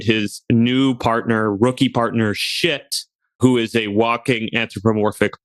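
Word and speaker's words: Schitt: It tells the story of Swamp Cop and his new partner, rookie partner, Shit, who is a walking anthropomorphic pile of shit. But that's spelled S-C-H-I-T-T.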